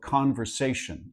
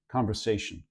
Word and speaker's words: conversation: word of conversation and where the primary stress will tend to be is here on say so you put primary stress before it secondary stress before as well so conversation so this one will be reduced because it's a very unstressed syllable so rather than this it will tend to be a schah rotic and some people even Ric speakers will sometimes drop that R and say conversation conver